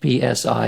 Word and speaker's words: psi: We use PSI is the first letter of the word psyche in Greek, and it's pronounced psi.